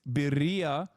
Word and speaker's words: birria: Am I saying it wrong? Roll the R more? Fuck you mean? I'm rolling it.